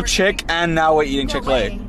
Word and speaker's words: Chick-fil-A: Stole your chick, and now we're eating Chick-fil-A. So it sounds like chicken. Wait, really? It sounds like chicken, guys. It's a play on words. Really? And fillet rhymes with fillet.